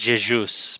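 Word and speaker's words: Jesús: And it's pronounced Jesus, by the way.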